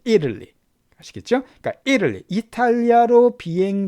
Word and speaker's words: Italy: 발음인데 대부분 다 발음은 이탈리가 아니라 Italy. Italy 이렇게 발음합니다. Italy.